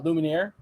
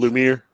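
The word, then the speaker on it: Lumière: so tigra and uh lumineer straight up 2d animation lumiere lumiere lumiere lumiere yeah whatever lumiere um i thought it was i thought there was three syllable-ish anyway it doesn't matter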